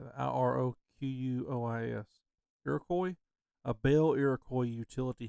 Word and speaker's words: Iroquois: Iroquois.